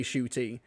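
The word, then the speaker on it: Ncuti: his actual pronunciation but he does say shoy in interviews and such actually to be fair shoy Gat was named pronunciation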